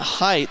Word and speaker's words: Height: I think that's what the PA guy said, so I was saying it wrong last night. It's Matt Height, the 6'4 junior, into the game.